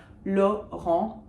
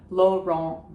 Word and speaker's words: Laurent: So no T's are pronounced because they're not followed by an E. Laurent Binet, Laurent Binet, if you want.